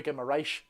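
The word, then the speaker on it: Guimarães: Like, some people call the correct pronunciation of Bruno is Bruno Guimaraes.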